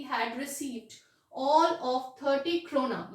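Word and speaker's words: krona: And last month he had received all ऑफ 30 क्रोना। ये क्रोनॉर नहीं है, okay, you have to pronounce it एज क्रोना।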